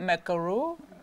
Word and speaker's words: macaron: saying it right Macau macaron be careful McCune is our president Oh macaron is something based with coconut macaroons is something based about with coconuts this is a macaron okay macaron okay so it's a